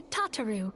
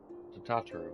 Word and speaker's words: Tataru: Oh, I should also introduce you to Tataru, our clerk. She ensures that everything runs smoothly. Tataru. I was pronouncing it wrong.